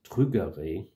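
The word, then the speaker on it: trugarez: bronische Wort trügere also trügere hat ein Z am Ende und EZ und den in den meisten Dialekt bretonischen Dialekten wird dieses Set wird nicht ausgesprochen außer in glaube ich Teilen von treor oder oder Po wo meine Familie herkommt und dann wird's anscheinend habe ich gehört wird es manchmal ja betont das ist trügere heißt danke schön das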